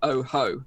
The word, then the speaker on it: OJO: Jo Oh Jo but pronounced oh ho oh ho yes I still remember